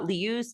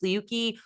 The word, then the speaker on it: Leuce: But so we have Leuce, Leuke, however you want to pronounce it. I've heard it both ways.